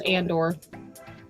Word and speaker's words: Andor: Is that how you say it? Andor. It's Andor.